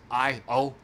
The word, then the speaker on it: Io: I don't really know how it's pronounced, but it's Io.